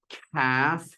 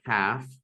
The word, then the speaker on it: calf: And this is the silent letters, calf. The L is missing, calf. No L sounded.